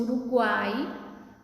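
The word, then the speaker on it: Uruguay: Quando eu pronuncio Uruguai, o Y tem som de I.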